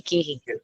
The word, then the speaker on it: gehen: It's Gehen.